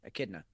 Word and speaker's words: Echidna: Okay, the H is silent. That's with it. Well, it's a K. It's a K sound. Echidna.